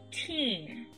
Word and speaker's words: teen: 19, eu tenho esse teen no final. Ok? Perceba que a pronúncia aqui desses dois es, ele é prolongado, tá? Então é teen.